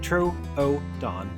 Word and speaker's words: Troodon: This is the story of the Albertasaurus, pronounced Albertosaurus, and the Trrodon, pronounced Troon.